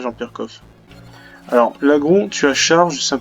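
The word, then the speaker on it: Laggron: Par contre, l'agron, avant je disais l'agron. Je disais l'agron avant. Sauf qu'en fait, quand il réfléchit bien, l'agron, en fait, c'est par rapport au lagon.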